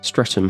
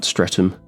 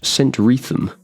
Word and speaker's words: Streatham: But the architecture remains A local joke about strutum used by those who would laughingly like to give it heirs and graces is that it's not pronounced strutum but centriam.